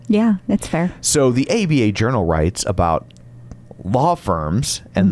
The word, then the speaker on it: ABA: It's just an article from ABA Journal, which you can't pronounce it. You have to say ABA, because then if not, you say ABBA Journal, and then people will